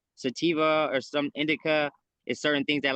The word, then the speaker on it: Indica: Indigo. Indigo. Indica. Spell it for me.